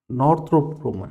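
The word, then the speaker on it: Northrop Grumman: एक मिनट, हाँ, स्पेलिंग मेरी शायद तक मिल नहीं रहा, एक मिनट रुकिएगा। नॉर्थरोप ग्रूमन है, हाँ, नॉर्थरोप है, नॉर्थरोप मतलब नॉर्थन ग्रूमन बोलते हैं, नॉर्थरोप ग्रूमन इसे सर्च होगा।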